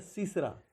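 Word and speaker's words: circa: और कहीं कहीं हम लोग सी लिखा हुआ देखते हैं या CA लिखा हुआ देखते हैं, तो इसका प्रोनाउंसिएशन एक्चुअली क्या होता है, सीसरा।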